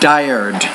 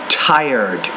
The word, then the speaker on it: tired: great pronounce that not dired but tired you got to pronounce the t with more air with more aspiration in your mouth tired you need to